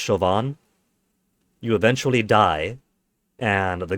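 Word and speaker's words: Siobhan: Now, I have played these before, but it's been so so long that the most I remember from this is Sioban is pronounced chauvin.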